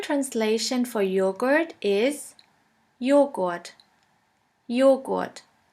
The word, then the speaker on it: Joghurt: The letter J is pronounced like the Y in the word yogurt. The German translation for yogurt is Joghurt. Joghurt.